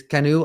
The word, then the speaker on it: CNOE: native operational excellence uh is the term is Cano I pronounce it Cano so I don't know